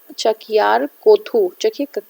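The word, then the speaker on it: Chakyar Koothu: तो देख लीजिएगा इसका प्रोनाउंसिएशन. इसमें लिखा है चकियार कोथू.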